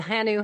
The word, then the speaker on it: hanu: this one that it is indeed hanu and pronounce hanu but maybe Hannah was turtle and uh I